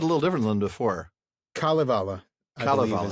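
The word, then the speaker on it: Kalevala: Kalvala. Kala. So the emphasis is on the first Yeah. I think I've always said Kalvala in the past. Kind of. I had too. And I started hearing Kalivala.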